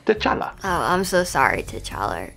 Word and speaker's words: T'Challa: Oh, my heavenly Jesus, is that you, Tit Charlie? It is I, Pennsatucky. I cannot believe we are finally meeting in person after all these years. Also, just so you know, it's pronounced T'Challa.